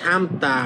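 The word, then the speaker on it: 삶다: লোকটা ইয়াং না এবার এটা উচ্চারণ করবেন সামতা মানে সিদ্ধ করা সামতা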